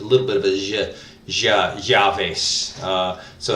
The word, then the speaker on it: llaves: bit of Asia yeah javis so it's kind of a cross between a jaw and a yeah so jaw face alright really it's it's the Y sound with a lot of emphasis javis okay so you'll